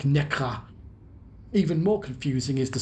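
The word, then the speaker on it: Nässjö: Further lessons in Swedish pronunciation come with the announcements for our stop in the town spelt Nassjo, pronounced something like Nekra.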